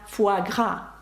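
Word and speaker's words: foie gras: буржуа ні уа а саме уа спробуйте це вимовити саме ось французько буж бурж таке блюдо як фуагра фуагра ви бачите як пишеться слово Фуа це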